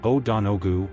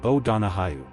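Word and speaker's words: O'Donohue: In America, you'll hear o donogu or o dono hu or even o donogue. A common corrected pronunciation in English is o da hayu.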